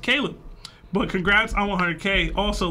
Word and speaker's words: Caleb: It says, by the way, Seb, it's pronounced Caleb.